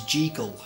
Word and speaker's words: Jekyll: I heard them saying Jekyll. I thought Jekyll might have been a gangster rapper or something. I wasn't sure what was going on. The correct pronunciation is Jekyll. So Jeek as in seek.